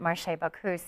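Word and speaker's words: Marché Bacchus: started by a French couple so they always pronounced it maray bakus so we kind of kept the French tradition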